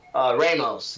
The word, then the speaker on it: Ramos: Ramos.